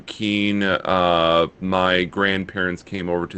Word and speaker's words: Kuehn: That it is a German last name, so Kuhn is correct. However, uh, brief family history here, we changed the pronunciation to Keen.